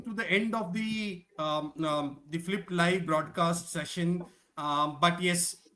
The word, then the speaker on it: PhyLPT: But T is silent, so it is a tongue twister, which is Flip.